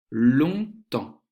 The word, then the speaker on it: longtemps: La chaise, renverser, la terrine, longtemps. Dans longtemps, tu vois que la lettre G, la lettre T, la lettre P et la lettre S, on ne les prononce pas, on ne les entend pas.